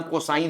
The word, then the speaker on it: cos: ऐसे ही पूरा नाम कोसाइन होता है, कोसाइन। तो कोसाइन एक्स में ये स्पेलिंग होती है, तो हम इसको बोलते हैं कोस एक्स है, ठीक है।